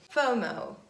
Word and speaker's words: FOMO: life is bomo and we don't pronounce it as separate letters we pronounce it as one word fomo fear of missing out